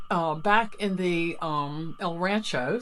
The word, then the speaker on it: El Rancho: We had quite the day, but we started out with a prompt uh back in the um El Rancho. See, I said it right. I didn't say El Rancherero for one hotel, which was so cool in Gallup.